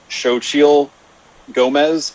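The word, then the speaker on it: Xochitl Gomez: liked uh i believe i believe you pronounce it shochil gomez i think the actress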